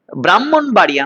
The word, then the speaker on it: ব্রাহ্মণবাড়িয়া: ব্রাহ্মণবাড়িয়া নয়, ব্রাহ্মণবাড়িয়া, ব্রাহ্মণবাড়িয়া, ব্রাহ্মণ নয়, যুক্তবর্ণ ভাঙলে হ ম, উচ্চারণে ম হ, ব্রাহ্মী লিপি, ব্রাহ্মী লিপি, ঠিক আছে।